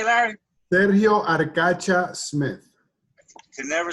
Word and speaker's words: Arcacha: with the late David Ferry, anti-Castro leader Sergio Arcacho Smith. Sergio, how you say it, Larry? Sergio Arcacha Smith.